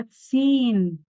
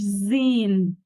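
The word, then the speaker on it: zehn: وآخر رقم معانا النهاردة هو تسين، مش زين، مش زيهن، غلط، حرف الها في النص.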